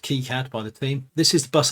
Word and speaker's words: KiCad: And in fact, if we look into KiCad, and now found out that KiCad is in fact pronounced KiCad by the team, this is the bus arbitration and wait logic.